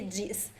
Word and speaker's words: diz: Como se diz? The letter Z at the end of words is pronounced as an S.